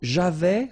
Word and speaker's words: j'avais: So j'avais, final S not pronounced.